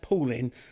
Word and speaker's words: Poolian: I had trouble but I always have trouble pronouncing certainly it's pooling which is paul with i8n if people want